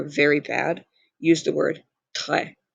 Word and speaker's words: très: bad, use the word très. Again, do not pronounce the S. And that accent makes the E as an eh sound, so be très.